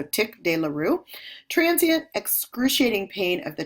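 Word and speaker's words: tic douloureux: Trigeminal neuralgia, it's also called tick dearoo. Uh that's a term that's often mispronounced. So tick dearoo.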